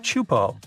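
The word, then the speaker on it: Teahupoʻo: all the name itself is a mouthful is pronounced chupo and it means broken skulls in tahan yeah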